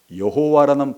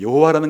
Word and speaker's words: 여호와: 여호와라는 것은 원래 발음이 아니고 발음은 무슨 모음 부호를 가지고 왔다고요? 아도나이를 읽었기 때문에 아도나이의 모음을 가지고 원래 자음에다가 그렇게 붙여서 발음한 것이 여호와니까, 이게 이제 거의 16세기 때부터 이런 일을 이제 했어요.